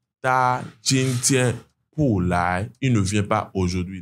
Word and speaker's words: 来: Donc lai finalement c'est venir, c'est au deuxième ton.